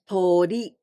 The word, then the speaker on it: 鳥: This kanji means birds, aves, and we pronounce 鳥.